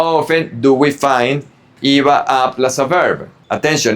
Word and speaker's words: iba a: It's IBA A, but when you pronounce them together, you say IBA.